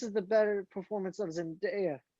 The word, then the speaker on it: Zendaya: the better performance of zendaya but or zendaya whatever her freaking name is but zendaya you said it right the first time this is her best